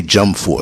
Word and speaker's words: Dwumfour: The victim was identified as Eunice Dwumfour, and it's spelled the last name Dwumfour, but they say Dwumfour, so I'm gonna roll with that.